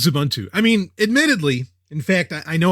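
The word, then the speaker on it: Xubuntu: I always wondered, and I've always pronounced it Zubuntu, but yeah, we'll go with Zubuntu.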